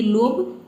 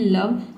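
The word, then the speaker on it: love: ई आया है, लेकिन हम यहाँ पे ओ को ओ नहीं पढ़ते हैं, यहाँ पे ओ को अ पढ़ते हैं। जैसे कि लव होता है, ठीक है, ये लोभ नहीं होता है, इसको हम पढ़ते हैं लव।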